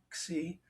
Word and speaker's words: xi: friend who's Greek who told me that all of these letters that have a whatever with an I on the end are pronounced with a E sound, xi.